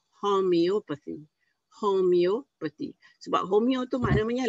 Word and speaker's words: homeopathy: Dan ada juga orang sebut merpati. Jadi rawatan merpati, mopati apa semua. Tapi the real pronunciation is homeopathy.